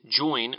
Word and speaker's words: join: By calling it a Hoosier dialect, we would claim among the earliest Hoosiers Pope, who made join rhyme with divine, and Burns, who invariably